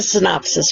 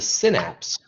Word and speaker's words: synapse: That's a synopsis, right? So it's going to, the synapse, not the synopsis, but the synapse, that is the I was space. pronouncing it wrong the whole time.